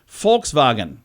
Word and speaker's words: Volkswagen: us say that wrong it's actually Volkswagen folks with an F Fox and Hyundai is